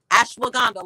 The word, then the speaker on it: ashwagandha: Ashwagandha, like Wakanda forever.